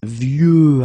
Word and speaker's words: vieux: Okay, of course you've got this X at the end, but you don't pronounce it. Okay, so it's vieux arbre, and then vieux actually will have a second masculine form, and it's vieille.